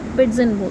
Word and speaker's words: pidgin: Okay, इसको पिडगिन लिखते हैं, प्रोनाउंसिएशन इसको पिडजन करते हैं. पिडजन, इट is pronounce eight पिडजन, जेड.